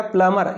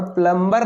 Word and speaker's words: plumber: अब ये जो वर्ड है, इसमें ये जो बी है, इस बी को नहीं पढ़ते हैं। इस बी को नहीं पढ़ेंगे तो ये PLUMBER, तो ये बी साइलेंट है दोस्तों। ये बी क्या है? साइलेंट है। इस बी को नहीं पढ़िए, हो गया प्लमर। ये क्या हो गया? प्लमर। और प्लम्बर नहीं, जिसको तो हम सभी लोग प्लम्बर बोलते हैं।